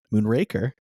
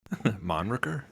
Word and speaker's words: Moonraker: While Moonraker Moonraker, who would pronounce it like that? Moonraker. Monraker.